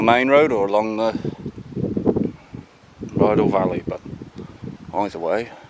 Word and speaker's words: Rheidol: I'm not sure if I've ever filmed this spot before, but this is the dam at Rheidol, Rheidol, that's how you say it properly.